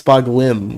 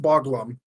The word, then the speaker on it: Boglim: I thought it was Boglin with an M, with an N. Turns out it's Boglim with an M. It's pronounced Boglum. Boglum.